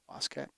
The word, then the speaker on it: Waskett: On today's show, we have Ruth Kelly Waskett. Did I pronounce that correctly? Waskett?